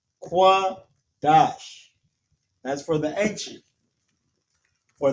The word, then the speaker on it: Qadash: Qua, da, and sha turns to dash. Qadash. La, sha, wan, Qadash.